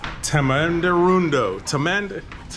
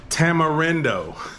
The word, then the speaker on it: Tamarindo: yesterday was La for tuna and today is tamanderundo how do I pronounce that hold on this is Tamarindo Costa Rica Tamarindo thank you came to